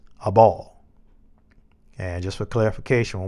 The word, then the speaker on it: Abel: to abel and remember although we have been taught that pronounced his name abel um it's a ball and just for clarification